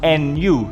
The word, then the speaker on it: Nu: actually his new gundam not new gundam is pronounced nu so as you can